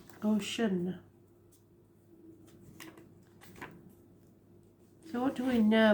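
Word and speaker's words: Oshun: what is the problem ocean not spelled like the ocean it's actually spelled o s h u n ocean so what do we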